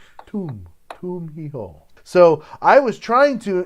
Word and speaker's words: Tum Hi Ho: I was saying it wrong. Tum, like a tomb. Tum hi ho.